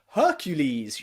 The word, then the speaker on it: Hercules: okay practice those words we also pronounce the letter e as e in greek words that means words in english that come from the ancient greek language okay words like hercules you know the really famous strong man hercules hercules okay but also